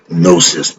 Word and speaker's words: gnosis: go that is to have nosis it's spelled g n o s i s the G is solid I'm with cat why